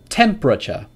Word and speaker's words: temperature: Temperature. Temperature. Temperature. Three syllables.